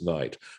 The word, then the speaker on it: knight: that it became alighted and so we just pronounce it as night but the spelling retains perhaps the original pronunciation